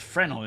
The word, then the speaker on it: Fresnel: Oh, I didn't know it's silent.